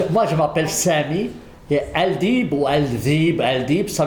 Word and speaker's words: Aldeeb: oui dites-moi j'ai juste une question comment se prononce votre nom alors moi je m'appelle Sami et al diib ou Alb al di ça veut dire les